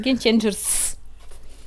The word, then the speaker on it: Game Changers: Слушайте, какой Game Changer? Game Changers. Множественное число, ёпта.